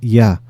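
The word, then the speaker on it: Jah: Ya, fíjense que en los salmos lo van a encontrar como Ja, J-A-H, pero es Ya.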